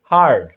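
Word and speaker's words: heard: তো every sound I হিয়ার, হিয়ারের ভিটু কি হার্ড, এটার ভিটু হিয়ার্ড বলো তোমরা অনেকে, কিন্তু এটা উচ্চারণ হিয়ার্ড না, ঠিক আছে, হার্ড। Every sound I হার্ড, যে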